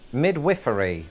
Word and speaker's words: midwifery: Because if you have seen Call the Midwife, you'll know that in Britain we say midwifery.